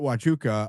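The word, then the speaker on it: Huachuca: I'm talking about just go search Fort Hachuka it's spelled hua c hu ka um or CA I'm sorry, not K Fort Wuka on my timeline and you'll see the post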